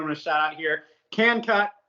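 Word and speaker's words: KNKUT: Can Cut, which is spelled K-N Cut. So it's K-N K-U-T.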